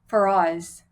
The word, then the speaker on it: Ferraz: Ferraz. Ferraz.